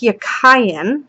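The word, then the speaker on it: Jachin: So, Yakin is pronounced Yakayan, from what I could find.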